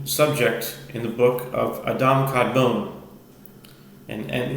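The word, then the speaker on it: Adam Kadmon: And um now this opening 31 starts a new subject in the book of Adam Kadbone and and the anglicized way of pronouncing as Adam Cadman.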